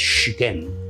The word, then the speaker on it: Siquén: señores de Siquén, que en realidad la pronunciación de ese lugar es Siquén, Siquén. Apéame y puro y la Siquero, ¿verdad? Siquén. Esa es la verdadera pronunciación, ¿verdad?, de este lugar, Siquén.